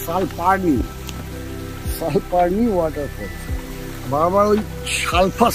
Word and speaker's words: Salparni: এই আমাদের সালফারনি ওয়াটারফল, সালফারনি না সালপারনি, সালপারনি ওয়াটারফল। বারবার ওই সালফা সালফা উচ্চারণ হয়ে যাচ্ছে, একটাই কারণে এখানে হট স্প্রিং